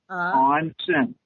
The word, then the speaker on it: Aonsin: Say ah. Ah. On scent. On scent. Put it all together.